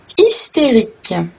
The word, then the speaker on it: hystérique: Elle est hystérique. Donc, comme vous avez pu remarquer, le H ne se prononce pas et le Y se lit comme un I.